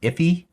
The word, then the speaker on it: IIFE: It's also just known as an IIFE. Sometimes I think it's pronounced iffy.